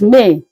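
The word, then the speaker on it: Mai: May, as you can see, sounds the same as it is being pronounced in English, except that the spelling differ with just I at the end. In English, we have Y at the end, May, but in French, it is May. The same pronunciation, but the spelling differs with the I and the Y.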